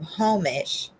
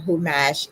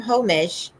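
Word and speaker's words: חומש: The modern Hebrew pronunciation Humash is an erroneous reconstruction based on the assumption that the Ashkenazic accent, which is almost uniformly penultimately stressed, had also changed the stress of the word. Humash preserved the original stress pattern, and both pronunciations contain a shifted first vowel.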